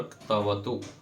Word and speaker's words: क्तवतु: हाँ, क्त और क्तवतु, क्त क्तवतु, क आधा है, त पूरा है। क्तवतु, तो थोड़ा सा क का भी भाग आएगा जब बोलेंगे तो।